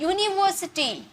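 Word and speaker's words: university: है वल नहीं है यूनिवर्सिटी वाई का साउंड आ रहा है राइट तो इसमें क्या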